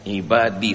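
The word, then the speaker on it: عبادي: Dalam ayat ini pakai ya, ibadi, sehingga bacanya harus panjang, 2 harakat.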